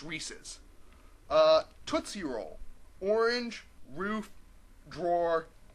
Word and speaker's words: Reese's: Okay, if it was Reese's, it wouldn't rhyme with pieces. Unless it's Reese's Pieces, which doesn't really work. I'm sorry. The marketing guys knew what they were doing. It's Reese's.